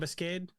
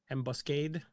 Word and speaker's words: ambuscade: Have Ambuscade? What was that? Ambuscade. Ambuscade. It's like ambush if the H was the word cade.